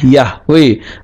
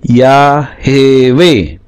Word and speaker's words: Yahweh: ini secara Tata tulis Ibrani tidak mungkin Dibaca yahwe tapi ya hewe mengeja empat huruf Yod he W He kok